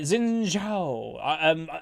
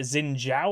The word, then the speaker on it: Xin Zhao: Like, I think if you wanted to pronounce this properly, it's like Xin Zhao or something. Like, I think it's like a J noise.